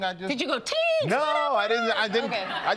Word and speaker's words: Teigen: She says it's pronounced, like I just said it, Teigen, and I've always pronounced it like everyone else, Teigen.